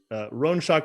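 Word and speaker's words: Roinseach: shock and the others her name is rhoneshak which is spelled r-o-i-n-s-e-a-c-h um she uh um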